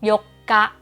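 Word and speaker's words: 四日: ที่ 8 นะ คะ วัน ที่ 4 เนี่ย จะ เป็น ซึ เล็ก เรา ออก เสียง เป็น เสียง กัก นะ คะ ส่วน วัน ที่ 8 เนี่ย โย กะ มี อุ ขึ้น มา นะ โย อ่าน เป็น เสียง ยาว ทัน ที นะ คะ ลอง ไป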